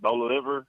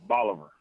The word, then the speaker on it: Bolivar: you said this weekend you pronounced it bola liver i mean uh boulevard local pronunciation is bolivar uh yeah from oliver